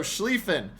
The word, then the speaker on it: Schlieffen: Lion sometimes uh but good to know the pronunciation okay so schliefen Schlieffen about to be focused down uh I